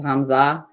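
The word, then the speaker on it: Hamzaa: I don't want to say anything that sounds like Hamas because that's not it, but it's Hamza.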